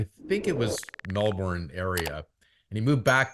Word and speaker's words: Melbourne: ceases to amuse an Australian in how North Americans say the word Melbourne but uh what's the prop way Melbourne it's that that but the um the Melbourne